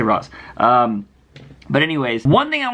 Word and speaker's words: Ra's: Even Batman said it that way in the Batman animated series when he started out, and then he started saying Raish. But whatever. I don't care. I don't care how it's pronounced. I'm going to say Ra's.